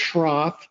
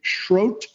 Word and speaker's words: Schroth: it's pronounced not pronounced shroth. It's German and they don't pronounce h's so it's actually schro which rhymes with uh